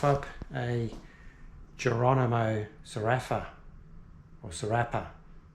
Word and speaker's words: Sfarrapa: That's the actual pronunciation. Sfarrapa, let's say.